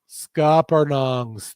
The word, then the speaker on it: scuppernong: doesn't get as Smoky because the frozen so scuppernongs scuppernongs thank you I always be like saying it